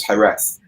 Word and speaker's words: Jerez: G-E-R-Z, and that's pronounced as Jerez.